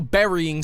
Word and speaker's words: burying: say like if you're burying someone it is pronounced like the word like a fruit berry i shall locally edit